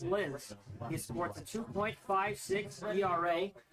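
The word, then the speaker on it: Sclis: It's spelled S-C-L-I-S. That's pronounced Sliz.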